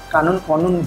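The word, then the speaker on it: Qanun: Ditambah kalau mungkin gue sedikit nambahin ada teman-teman nanti bisa googling terkait Kanun ya. Konun bacanya. Konun Aceh.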